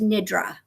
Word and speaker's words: nidra: anybody but the way I was trained it's pronounced Nidrei so yeah I heard of that I was